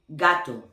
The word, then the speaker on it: gato: Now, when la G is go next to A, O, and U, is gonna have the phonetically sound of G, like gato, gorra, gusto.